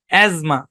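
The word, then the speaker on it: asthma: টি এইচ এম এ এখানে টি silent H O silent ভাই এজমা এবং এস টা হবে জেড এই শব্দের উচ্চারণ এজমা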